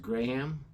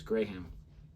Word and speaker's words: Graham: Do you know it's actually pronounced Graham? Graham. So they say it faster over there, like Graham. Graham. But it's Graham.